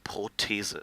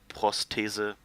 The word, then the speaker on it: Prothese: be really horrified, but in German, it's Prothese, so it doesn't have the S. It's not prosthesis, but it's actually Prothese. It's like spelled the same way as prosthese, like it's an E at the end, not an IS, but apart from that, and of course the first S is missing.